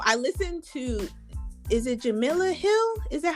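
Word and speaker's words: Jemele Hill: So, what what I'm going to say is that um so I listen to is it Jamila Hill? Is that how you say her name? Jamal Hill.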